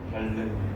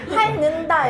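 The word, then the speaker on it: 핥는다: 그럼 어떻게 해야 돼? 할른 그지? 할른다가 되어야 합니다. 여러분 니은으로 소리를 내게 되면 할는다 이렇게 부자연스러워요. 니은을 발음하려면 혀끝을 다시 윈니에대 줘야 하기 때문에 굉장히 불편하거든요.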